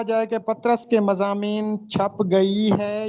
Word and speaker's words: پطرس: تو پہلی بات تو یہ ہے کہ یہ درست تلفظ اس کا پطرس ہے، پطرس نہیں ہے۔ پطرس بخاری، سید احمد